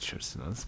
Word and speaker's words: chrysalis: Chrysalis, I think chrysalis, but I'm gonna try. Do you know how it's pronounced?